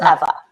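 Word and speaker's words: Ewa: heritage I'm polish so my name is e wa but the W is pronounced like a V so it's ever see I thought it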